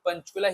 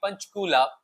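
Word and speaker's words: Panchkula: So he mentions that because they were going to take me back to Panchchula, he says broadening his eyes and the second syllable until it became punchula.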